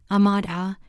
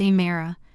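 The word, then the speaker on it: Amara: "You must be Ahmad Ah," she said, drawing out the syllables like my name was a foreign object she didn't want to touch. It's a Mara, I said politely, offering the wine.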